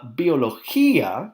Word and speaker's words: biología: of interesting to note careful with your pronunciation on a few of these it should be an algebra algebra la biología the accent on the eye there makes yeah so la biología las